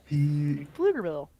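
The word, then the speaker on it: Pflugerville: Flugerville. The P is not pronounced. The the P. Yeah. Here, I'll spell it out. Okay. to pee in Flugerville. Flugerville.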